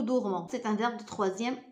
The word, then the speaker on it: dormons: On ne dit pas nous dormissons. On dit nous dormons.